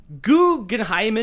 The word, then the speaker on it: Guggenheim: then like I'm a Guggenheimen. Where'd you think I was going with that? Because now I want to know. You added an extra syllable to the end.